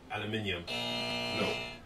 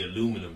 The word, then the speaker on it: aluminum: Aluminium. No. Ethan. That'd be aluminum, sir.